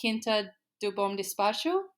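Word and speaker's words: Quinta do Bom Despacho: uh the name of it um to pronounce this correctly, Kinta Dubom Dispatch.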